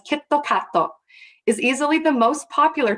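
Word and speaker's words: キットカット: Kit Kat, which is pronounced in Japanese as Kitto Katto, is easily the most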